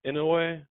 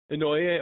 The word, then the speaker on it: Inouye: In Inouye, how you say it? Just pretty close to Noye, I think. Inouye, okay.